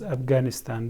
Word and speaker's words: Afghanistan: Afghanistan. You pronounce Afghanistan, but in Pashto we say Afghanistan.